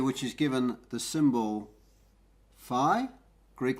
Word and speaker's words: Phi: is given the symbol Phi Greek letter this is usually spelt pH I and it rhymes with pi now the real value